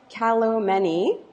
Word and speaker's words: Kalomeni: I have with me Mike Kalomeni. Did I Yeah.